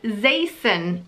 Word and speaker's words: Zaison: and it's the name Zaison, Z-A-I-S-O-N. I told you it was a bit of a weird one. So basically it sounds like Mason, but you spell it with a Z and spell it Z-A-I-S-O-N.